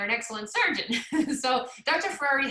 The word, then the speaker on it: Ferrari: It's literally Ferrari, like it's spelled like a Ferrari.